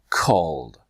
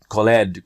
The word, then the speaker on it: called: your lips is to reprogram the way you're pronouncing it okay so now two steps call called call called if you train this way I promise you'll have better results and you won't be call it that Khaled Khaled right there slow down alright so if